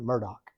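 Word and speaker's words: Murdaugh: a really good podcast Murdoch murders podcast but it's spelled m-u-r-d-a-u-g-h like Merv doll but in the low country of South Carolina they pronounce it Murdoch crazy so um where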